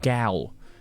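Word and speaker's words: gaol: No, it's pronounced gal. G-A-O-L.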